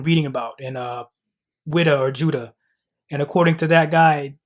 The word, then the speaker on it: Whydah: But as we can see here, a PhD scholar writes that the people today in that town still pronounce their town in their native tongue as Judah.